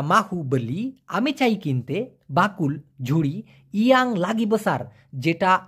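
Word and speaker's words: bakul: Malaysian ভাষায় বলা হয় বাকুল বাকুল আবার কেউ বকুল শুনেন না আবার কবুল শুনেন না বাকুল বাকুল মানে ঝুড়ি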